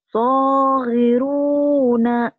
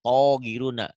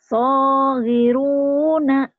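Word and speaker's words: صغيرون: Kedengarannya bibirnya masih monyong. Kalau terlalu monyong jadi kayaknya togiruna. Padahal mungkin kau bacanya so ya. Kedengarannya kayak togiruna. So, baso, sholat. Baso, so. Jadi orang jangan suka so deh. So gitu. So giruna. Coba ulang so-nya. Saghiruna. Tuh baru jelas artikulasinya.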